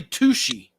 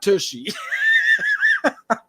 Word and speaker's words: Tucci: But he's like, dude, my name's Tucci, not Tushy.